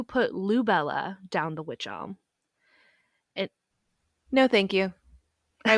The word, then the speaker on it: wych: lou bella down the witch alm and no thank you i would have moved and because the word witch for which elm is spelled w-y-c-h the police were led